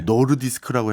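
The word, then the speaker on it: Nordisk: 오늘 기업이 노디스크, 네. 노르디스크라고 해야 됩니까? 노디스크라고 해야 됩니까? 노르디스크가 맞을 거예요. 덴마크어로는. 네, 예. 노디스크라고 발음하는 게 우린 편한데 예.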